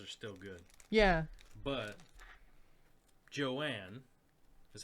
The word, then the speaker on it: Johan: But Joanne is how you say Johan's name, Really?